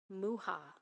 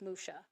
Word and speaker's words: Mucha: would know him as Muka or mucha but Alphonse uh was uh for he was Czech and the Czech pronunciation is muha and if you are